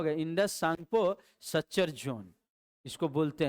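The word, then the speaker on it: Tsangpo: आई से Indus, T से सांगपो, TSANPO, T silent कर देते हैं, कहते हैं सांगपो, ठीक है ना, लेकिन शुरू होगा TSANPO, सांगपो।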